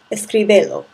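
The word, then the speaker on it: escríbelo: what we do is we add an accent to the originally stressed vowel to maintain the pronunciation of the verb without the attached object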